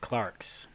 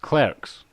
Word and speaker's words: Clerks: on actually but uh my number three is clarks's ah that that was going Clarks clerks cler Clarks oh you said Clarks like Clarks